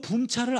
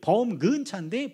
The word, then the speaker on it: 차범근: 이 친구들이 범근차인데 범근차 발음이 안 돼요. 독일 사람들은 그 발음 못 해요. 그래서 그냥 붐근차인데 붐근차도 발음이 어려우니까 붐차 이런 겁니다.